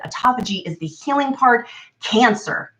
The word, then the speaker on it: autophagy: And autophagy is spelled like autophagy, like auto and then Phaghy. So autophagy, that's how you vernacularly pronounce it. Autophagy is the healing part.